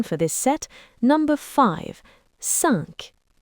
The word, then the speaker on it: cinq: cinq It's a little bit nasal.